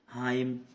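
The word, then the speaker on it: hymn: हाइम, है ना।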